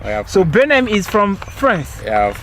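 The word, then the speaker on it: Benam: Benham. Yeah, of course. Benham. How do you spell it?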